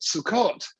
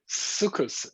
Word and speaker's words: Sukkot: talking to you about sukkot sukkus depending on your pronunciation whether you're than a journey safari then it's so caught sukkos if you're scottish and the most thing